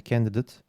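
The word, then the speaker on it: candidate: Fiillerde telaffuzu /eyt/ şeklinde, sıfatlarda ise /ıt/ şeklinde; mesela /kendidıt/ ama /formuleyt/. Numero 32, İngilizcede “-able, -ible”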